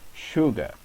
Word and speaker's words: sugar: So as we have said, in very few words the letter S is pronounced as sh.